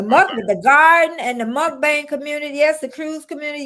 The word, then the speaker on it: mukbang: difference yeah okay mukbang yeah it's it's the mukbang for sure yeah and crafty Leo thank you